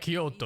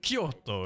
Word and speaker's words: Kyoto: name Tokyo and Kyoto it's not like Kyoto it's like Koto or something you have to say the first but fast or something like that I didn't